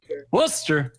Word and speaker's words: Worcester: have you been using Google Translate how to pronounce a good thing in life Wooster all right yeah yeah see Google translates actually